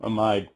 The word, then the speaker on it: amide: long one Pito ethanol amide or amid depending on how you say it but pea is a